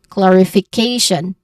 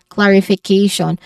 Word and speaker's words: clarification: the one with the dip thong sound that is the you know the is the stressed syllable. So you say it as clarification again clarification.